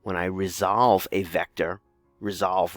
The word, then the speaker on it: resolve: Whereas when I resolve a vector, resolve rhymes with dissolve, I break it down